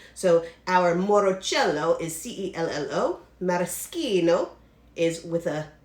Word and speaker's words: maraschino: we are using now people mispronounce this all the time but i have italian roots so i'm going to say it correctly maraschino it's not maraschino because in italian ch is k and c alone followed by a soft